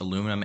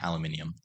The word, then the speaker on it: aluminium: And also, it can be pronounced both aluminum and aluminium.